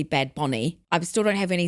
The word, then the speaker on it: Bad Bunny: I brought up people telling us we had to pronounce Bad Bunny as Bad Booney, which I've now found out is also, it's supposed to be Bad Bonnie.